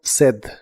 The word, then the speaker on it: said: Se pronuncia said.